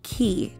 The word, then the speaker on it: Ki: She actually goes by Ki, K-I, and her Instagram actually says Eyeamki.